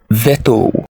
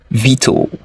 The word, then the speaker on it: veto: do you pronounce this one do you say vetto it's wrong to pronounce it as vetto the correct pronunciation is this VTO veto how do you you pronounce this do you